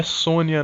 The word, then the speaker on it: Sonja: em 85 que chama red sonja que na verdade a pronúncia é sônia nem chegou ao brasil